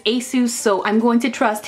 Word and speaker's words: ASUS: watching his videos so the way he pronounces it is ASIS so I'm going to